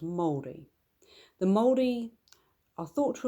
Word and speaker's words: Māori: In New Zealand, this would be pronounced Māori.